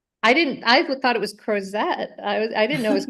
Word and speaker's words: Crozet: I have been mispronouncing that, by the way, for like So it's months. Crozet. I thought it was Crozet.